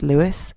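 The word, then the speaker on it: Lewes: Also, in response to Sammy's pronunciation queries, yes, it's Lewis in East Sussex.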